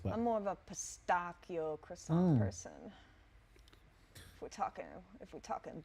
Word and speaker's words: pistachio: Can you say pistachio That's how they pronounce it in over there? there. Okay, Yeah. not pistachio. No. Pistachio. It's pistachio. Pistachio, biscotti, espresso.